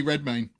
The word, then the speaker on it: Redmayne: Eddie Redmayne.